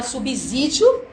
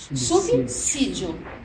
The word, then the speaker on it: subsídio: que não é eh todo mundo fala subsídio e não é subsídio o certo é subsídio eu vou você vai